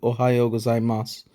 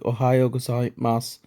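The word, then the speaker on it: おはようございます: If you listen carefully to ohayo gozaimasu, you'll notice that it sounds almost like ohayo gozaimasu with no final U sound. This is a so-called whispered vowel because it's almost as if the speaker is pronouncing that final su ever so softly.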